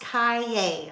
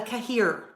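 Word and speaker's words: cahier: c a h i e r that is pronounced Cay like yippy Cay um I learned that because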